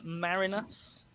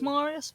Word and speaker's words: Marinus: it restored by uh marinus the first i thought it was marius but it's spelt m-a-r-i-n-s so it's marinus marinus uh there were two more